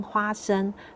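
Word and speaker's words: 花生: 实在这边在中文的发音花生听起来很像发声的声音，所以我们才会说好事花生。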